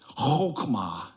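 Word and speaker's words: חכמה: This wisdom word in the Hebrew is chokmah. You almost have to clear your throat to say it correctly. Chokmah.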